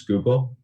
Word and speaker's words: Schuylkill: One thing I will throw out there, it's pronounced Schuylkill for whoever was struggling through with that word. Hold on, no idea. But yeah, definitely do your research in advance, but it's pronounced Schuylkill.